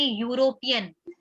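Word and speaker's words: European: क्योंकि जो ई है वो तो वॉवल है बट इसका साउंड क्या आ रहा है, इसका प्रोनाउंसिएशन क्या है? इसको बोलेंगे यूरोपियन।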